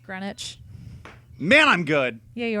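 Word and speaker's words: Greenwich: fighter Garrett you're right it's pronounced grenwich man I'm good yeah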